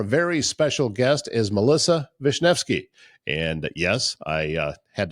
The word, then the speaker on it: Wisniewski: Today, our very special guest is Melissa Vishnvki. And yes, I uh had to practice to pronounce her name.